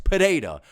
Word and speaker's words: Pereira: Just say Alex's name normal, bro. How many people are going to comment that his name is Alex Peda, dog? I'm sorry that I'm pronouncing his name the right way. I don't understand why people are complaining about that.